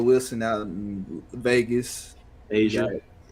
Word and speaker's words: Aja: Yeah, and then Jaya Wilson out in Vegas. Asia. My bad, Asia. I thought it was a Jaya because it's spelled different. AJA. It's 3 letters.